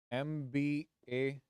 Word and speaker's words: MBA: my AC right and how am I pronouncing these m b a MBA I'm not telling MBA as a single word I'm pronouncing each and every alphabet here m l a I'm